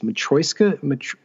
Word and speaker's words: matryoshka: I can never pronounce, and I get corrected because I say babushka dolls, and I know it's not babushka. It's matryoshka. Russian dolls.